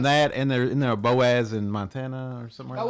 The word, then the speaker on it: Boaz: see and I'm from Bo a z how do you say that Boaz said Boaz Bose Bose we say Bose yeah in the Bible I would say I would say Boaz from that and there